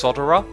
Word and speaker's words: solderer: things that uses solderers some people say they should be pronounced sodura or like I've I've read a lot of comments from people saying how to pronounce this word I've never ever until coming on YouTube heard anyone call it something different than a solderer